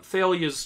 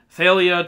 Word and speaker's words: Thalia: guessing this is uh thalia's tree Thalia Talia I swear I heard Rick pronounce it Thalia at one point that's